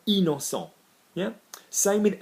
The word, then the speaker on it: innocent: I-double-N with a vowel, same thing, in. So innocent, I-double-N, innocent.